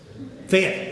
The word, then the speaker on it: Fayette: over in, tell me, what is it, Fayette or Fayette? Fayette, one syllable, right?